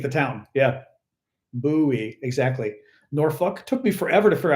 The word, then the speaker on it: Norfolk: you just think the town yeah buoy exactly norfol took me forever to figure out how to pronounce norfol n o r fol k because